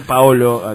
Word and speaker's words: Paolo: Pier Paolo es, yo soy italiano y te corrijo. ¿Cómo es Paolo? Ah, bueno, Pier Paolo. Pao. Paolo con acento en la contanos un poco de de toda esa trayectoria.